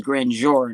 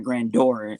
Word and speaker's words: Grandeur: as simple as my second half of my already name which is grand jury not granddoor and then people pronounce